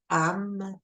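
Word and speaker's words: HAM: Celui du chakra de la gorge, ça va être le AM, H-A-M, AM. Fait que, tu sais, juste le prononcer, utiliser le chakra de la gorge, c'est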